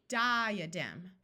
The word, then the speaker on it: diadem: Diadem. Did you notice we don't say di-a-dem, but di-a-dem? The A schwas instead of having a short sound or a long sound.